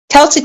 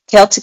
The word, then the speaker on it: Celtic: It sounds K, but it's uh spelled with the Yes.